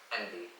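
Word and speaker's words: enby: be abbreviated to, and how do you pronounce that? Envy. NB.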